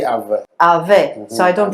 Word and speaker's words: Ave: Yeah, A-V-E, they'll say Ave.